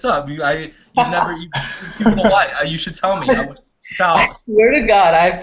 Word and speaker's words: Sol: It's funny, I've known you now for like 6 months, and you still pronounce my name Sol, even though it's Saul, like Solomon.